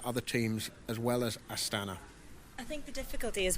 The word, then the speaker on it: Astana: We should probably talk about the ongoing story of Astana, or Astana, if we had Rob Hatch with us and we were trying to impress him with our pronunciation.